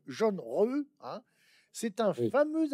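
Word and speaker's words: Zheng He: Alors, c'est écrit en français Zeng, et moi, vous dites qu'il faut prononcer jaune, jaune, re.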